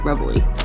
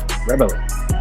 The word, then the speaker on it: Rebele: It's the word rebel with an E at the end, so it's just rebel-y. Rebele.